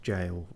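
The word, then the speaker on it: gaol: gap ever jowl okay g-a-o-l that's usually pronounced jail or not jail specifically but yeah something like that yeah okay i didn't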